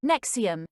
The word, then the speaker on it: NXIVM: NXIVM, pronounced NXIVM, is a group that